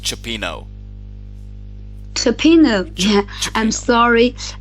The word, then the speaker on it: cioppino: and we're gonna see that later and it's pronounced cioppino so peanut yeah I'm sorry I didn't look